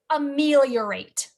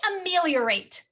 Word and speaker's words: ameliorate: so say the word ameliorate i know that's been popping up a lot hasn't it say ameliorate all right how many syllables are in the word ameliorate a meal yeah rate there are four what's the first sound